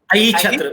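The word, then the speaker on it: Ahichhatra: So Aishatra, Kamran bhai has shown Aishatra, or what do you exactly pronounce, Kamran bhai? Aichhatra, because Chhatra is Kshetra or the region, and this is really for the history lovers.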